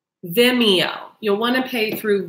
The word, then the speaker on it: Vimeo: I'm sorry my friend taught me how to pronounce this it's called Vimeo you'll want to pay through Vimeo so all